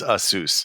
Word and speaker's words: Asus: too much but uh is Asus the official pronunciation of that company on this podcast I have been told by the representatives of assus over the years that the company's name is Aus yeah I mean I've